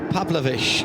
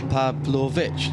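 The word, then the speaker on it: Pavlović: to third place Milos pavlovic going through pav pav why do I put an extra syllable in that are you trying to say Pavlova Pavlo pavlovic yes okay MOS I'm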